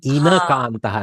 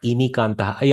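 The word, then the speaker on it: इनकान्तः: inakantaha, not inikantaha. I may have mispronounced. Excuse me if I have. Inakantaha. E and a.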